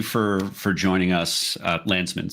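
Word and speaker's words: Landsman: Congressman Landman, thank you for for joining us. Uh Lansman, sorry, mispronounced that.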